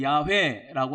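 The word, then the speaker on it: יהוה: 히브리어로 야회라고 하는 단어가 있어요. 야회. 우리 여호와 부르잖아요. 여호와 야외 똑같은 말인데 히브리어로 내자예요. 요드바브 요드바브 내자인데 야회라고 읽어요.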